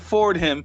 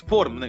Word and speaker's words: Fordham: Like, no, it's Fordham. Like the H is silent. It's not Fordham.